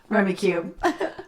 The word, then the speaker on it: Rummikub: adventures today's fave is rummy cube nice some people say rummy cub but i had wikipedia tell me how to say it it's from cube great all right so